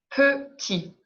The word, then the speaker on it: petit: ne prononce pas ok plus petit thé je ne prononce pas plus petit donc les